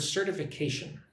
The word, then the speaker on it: certification: So look at the word certification. Certification. Wow, 5 syllables. Certification or certification. But you know, when I say it quickly, the T is very soft. It's like a D.